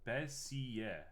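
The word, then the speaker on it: Bézier: is all right uh bezier is french and pronounced bessie bessie uh okay are you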